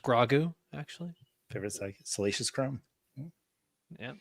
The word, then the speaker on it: Grogu: It's pronounced grogu actually.